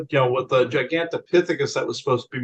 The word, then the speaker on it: gigantopithecus: Ganttopicus. Oh, gigantopithecus. Yeah, giganticus is how you pronounce that.